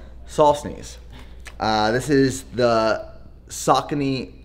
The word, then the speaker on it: Saucony: on backorder these are i'm going to pronounce this correctly sock uh knee the sauconees also known as sakonis also known as solstness uh this is the